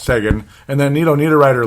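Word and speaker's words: Seguin: oh boy and then sigin sigan Sean I keep saying it wrong but it's Sean and then Neo NE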